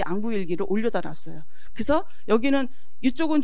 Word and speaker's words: 앙부일구: 요것도 이제 뭐 자경로 이런 것이고, 요거는 우리들이 잘 알고 있는 앙부일기. 앙부일구라고도 하는데 요 구자가요 그 솥단지 이런 거거든요. 근데 해시계라는 의미로 쓸 때는 사실은 귀라고 발음을 해야 되는 거예요.